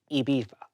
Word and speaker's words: Ibiza: Pronounce it, well, first of all, pronounce it properly. Ibiza.